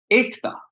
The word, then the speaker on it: ECTA: Which actually brings me to ECTA, ECTA, Australia-India Economic Cooperation and Trade Agreement, which, ECTA, if you want to pronounce that in Hindi, it's Ekta, which, as most of you know, symbolizes cooperation, collaboration, and unity.